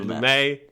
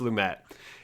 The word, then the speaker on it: Lumet: I said Lumet, but it's pronounced Lumette.